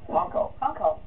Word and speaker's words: Honko: That's how you pronounce it. Honko. Like a hunk.